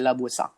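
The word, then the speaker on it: La Voisin: Se escribe Voisin, pero como es francesa se dice Lavoisier.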